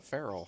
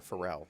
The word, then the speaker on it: Pharrell: jamal was wearing a a feral hat or pharrell sorry i mispronounced this really ginger you gotta